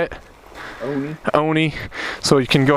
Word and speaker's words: Oni: All right, we got, also known as Oni. How do you say it? Oni.